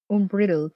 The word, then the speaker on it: unbridled: Unbridled, pronounced like bride. Unbridled?